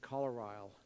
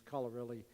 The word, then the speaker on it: Colorilli: Colorile, but that's never the name. That wasn't the way that we pronounced his name. It was Colorilli.